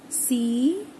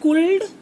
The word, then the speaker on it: could: C-O-U-L-D. How to pronounce this word? Is it cold? Children, is it cold, children? No, it is could. How to pronounce this word? It is could.